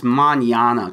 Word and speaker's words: Mignogna: a bad really researches it's mañana kind of like lasagna that's what yeah I